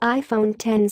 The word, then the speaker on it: iPhone XS: X Max, tell your eyes to stop. It's the iPhone Xs and Xs Max. Don't worry, we've been saying it wrong all week too.